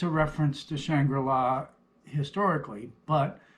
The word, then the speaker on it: Shangri-La: say shangri-la and yes it's a reference to shangri-la historically but it's specifically pronounced shangri-la for a reason has to do with the